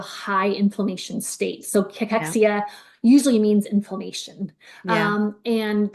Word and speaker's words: cachexia: cachexia.